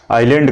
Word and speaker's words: island: S silent है, आइलैंड कहा जाता है।